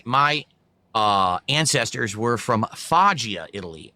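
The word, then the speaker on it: Foggia: Actually, I a Fajia Italy. That That's why you said fo because it's pronounced fajia.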